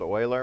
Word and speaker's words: Euler: about different ways to solve it introducing so-called euler methods in case you're wondering how that's pronounced finite difference methods which i want to